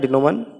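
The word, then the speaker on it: denouement: ठीक है, डिनोमन इसका प्रोनाउंसिएशन होता है डिनोमन, यानी कि अंतिम परिणाम, क्लाइमैक्स।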